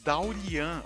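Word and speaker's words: 道蓮: E em chinês o nome do Ren se pronuncia Daolian.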